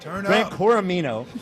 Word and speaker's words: Gran Coramino: Gran Corino, Gran Coramino.